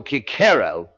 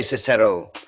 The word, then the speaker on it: Cicero: The English Cicero is the Cicero of the church, of the law courts, of the medieval schoolroom, the continental kicero is the Cicero of the humanist recovery, the attempt to get back behind the medieval transmission to the Roman original.